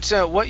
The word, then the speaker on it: what: Okay, so what you're hearing, okay, so like when I say what, okay, I don't actually finish it off.